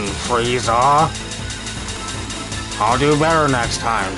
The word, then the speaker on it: Frieza: who you are Mr freezer my name isn't freezer it's friezer you dumb oh I'm so sorry that I mispronounced your name Frieza I'll do better next